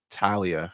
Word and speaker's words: Thalia: like every time like Talia, I think that's how you're supposed to say her name, but I just called her Thalia because that's how I read that shit because it was Thalia.